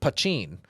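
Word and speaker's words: poitín: it's a essentially Irish moonshine but it's uh pachin is the way it's pronounced and it's a mountain strength crafted in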